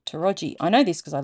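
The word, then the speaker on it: Towradgi: figure it out cuz it's spelled t o w r a d g i pronounced toi I know this cuz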